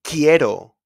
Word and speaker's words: quiero: And also in the QUI. For example, in quiero, I want. Quiero.